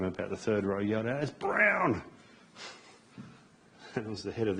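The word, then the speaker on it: Bruijn: you the story but that's pronounced brown where I was in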